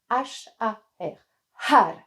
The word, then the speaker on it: Har: le mantra haha et on prononce vraiment toutes les lettres ha R et vous allez voir